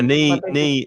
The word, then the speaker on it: knee: you could say yeah nee is what's knee in spanish um again silent k my knee hurts i